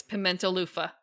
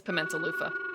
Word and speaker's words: Pimento Lufa: You are just remove that H at the end, and you are correct. It's Pimento Lufa. It is Pimento Lufa.